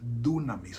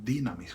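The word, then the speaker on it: δύναμις: La palabra en griego allí es dunamis o dinamis, como quieran pronunciarlo.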